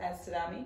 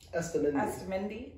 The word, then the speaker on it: Astamendi: Is it Astadami? How do you say it? Astamendi. That's why I didn't want to pronounce it.